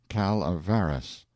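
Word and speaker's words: Calaveras: the notorious jumping frog of Calaveris County, pronounced Calaveris.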